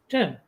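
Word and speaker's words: gaol: Jail.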